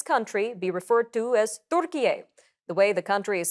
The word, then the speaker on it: Türkiye: He is formally requesting that his country be referred to as Türkiye, the way the country is spelled and pronounced in Turkish.